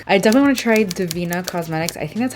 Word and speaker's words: Devinah: I don't know why, but I think on their Instagram it says Devinah. Like, we pronounce it Devinah.